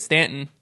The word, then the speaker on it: Staunton: north would always call it staunton and i'm like well no we say it stanton and they're like no that's wrong like yeah i don't